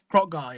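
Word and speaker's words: Kroq-Gar: The next great important Lizardmen we have is don't know if I can pronounce it. Krogar? Is that it? Krotgar, yeah. Krogar.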